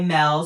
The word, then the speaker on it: Melle: the R are backwards, but it's Luster by Mel. So L U S T R E B Y M E L E.